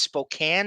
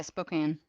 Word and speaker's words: Spokane: It's Spokane is how you say it. Yeah, Spokane.